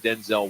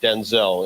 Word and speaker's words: Denzel: So it turns out we've been all saying Denzel Washington's name wrong.